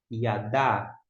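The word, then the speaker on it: יָדַע: Aqui o Dalet com o Patá, som de A breve. Yadá, Yadá, porque o Aleph é mudo.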